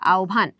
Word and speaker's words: আহ্বান: তাহলে এটার উচ্চারণ কি হবে? এটা আওভান।